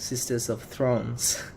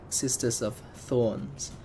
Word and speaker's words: Sisters of Thorns: more unit of the sisters of thrones as well I kept laughing on whenever I pronounce this name is because actually mispronounce it it's actually assistive sisters of thorns but I'm just gonna